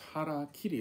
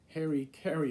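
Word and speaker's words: hara-kiri: trying to say is hara kiri it's two words hara means stomach kiri means to cut so to cut your stomach is harakiri right harakiri it's not hairy kerry as some people have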